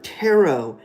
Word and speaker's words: tarot: In the tarot video, I said uh tarot. It rhymes with parrot.